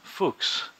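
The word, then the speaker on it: Fux: His last name is actually, it's kind of awkward, but it's pronounced Fuchs. I'm pretty sure it's Fuchs.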